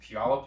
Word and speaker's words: Puyallup: the Pacific Northwest I was like born in Puyallup Washington if anybody knows where that is um and that's how you pronounce it uh and I've been a developer